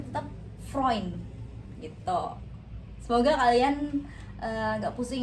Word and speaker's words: Freund: Jadi bacanya bukan Freun, tapi dibacanya Freund. EU itu jadinya OI.